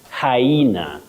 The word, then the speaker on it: hyena: You say hyena. Hyena, not hyena. Okay, hyena. So you actually pronounce the Y, so hyena.